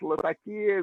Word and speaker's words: Latakia: Though most English-speaking people pronounce it Latakia, which is totally acceptable.